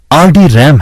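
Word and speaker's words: RDRAM: आरडी रैम, रैम्बस डी रैम, जिसका उच्चारण आरडी रैम है, रैम्बस इंक, लॉस ऑल्टोस, सीए रैम्बस की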